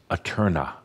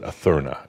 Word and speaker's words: Aeterna: We came up with Aeterna, A-E-T-E-R-N-A. Or if you prefer, you can spell it and pronounce it Aeterna, A-T-A-E-T-H-E-R-N-A. Either one, Aeterna, Aeterna, either way.